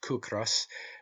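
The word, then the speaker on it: cíocras: Such, for instance, are the Irish words ciocras, pronounced cucras, meaning hunger, and the word kis, pronounced kis, meaning rent.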